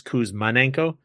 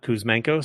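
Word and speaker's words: Kuzmenko: And my brain still keeps trying to add a syllable to his name. My brain thinks it's Kous Manenko, not Kousmano.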